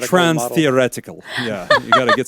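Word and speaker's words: transtheoretical: is you know say that five times yeah trans thetical model model change it's actually pronounced trans theoretical yeah you got to get some was your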